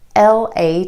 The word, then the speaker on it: later: L-A-T-E-R.